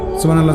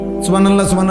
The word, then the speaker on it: সুবহানাল্লাহ: হা এটা হলকের মধ্যখান থেকে উচ্চারিত হইতে হবে। সুবহানাল্লাহ করলে হা তো উচ্চারণ হয় না, তা তো অশুদ্ধ।